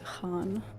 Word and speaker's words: Khan: It's like Khan, like the word, when I'm talking about pop history, that's what I mean. We all learn about Genghis Khan, but that's not actually how it's pronounced. Okay, so that's just the correct spelling of like Han.